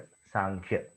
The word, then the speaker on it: सांख्य: सो सम ख्याति ऐसे बना हुआ है ये वर्ड सांख्य, ऐसा एक डेफिनेशन माना जाता है। दूसरा है संख्या, इस वर्ड से सांख्य आया है। यहां पर एम नहीं आता, म का उच्चारण नहीं है, न का, संख्या, सांख्य, संख्या, ऐसे।